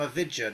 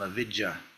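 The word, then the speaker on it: अविद्या: It's long A. Avid. A-V-I-J-J-A. No, it's a short A actually. Short A. A perception of a separate self that's not real. Yeah, but avidya is not. That's avidya is like a blockage. A-V-I-J-J-A. Avid. You've got to pronounce both the J's somehow. I don't know how you do it.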